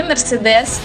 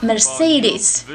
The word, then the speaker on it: Mercedes: прочитайте вы в общем это не mercedes с ударением на последний слог а марсель из нашей бис ударение на второй слог наш сервис и